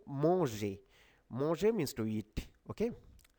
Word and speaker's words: manger: M-A-N, mon, mon. Really nasal sound here. Mon, mon, manger.